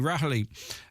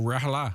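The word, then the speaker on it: Ní Raghallaigh: of RTE board chair shun Rah or Raha as some pronounce her name there is a nervousness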